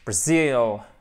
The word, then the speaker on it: Brazil: On a nos deux syllabes avec une seconde syllabe qui va être celle qui est accentuée, d'accord? Donc, c'est super important de bien voir ça, ok? Donc, ça nous donne Brazil, repeat, ok? To repeat. Alors, j'exagère un petit peu l'intonation, évidemment, mais c'est pour que vous l'entendiez vraiment bien, ok?